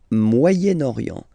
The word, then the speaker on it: Moyen-Orient: So it's interesting here because normally if you would have only this word here, you would pronounce it moyen, moyen. Okay, but then as you've got this vowel after, okay, you get to make the liaison between the two. Le Moyen-Orient, Moyen-Orient. Okay, let's start now.